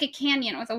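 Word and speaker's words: Cañon: Yeah, it's I thought it was like a canyon with a Y. No, it's like canon. It's like not I'm pronouncing it wrong, but it's like it's like the the till day over the the N.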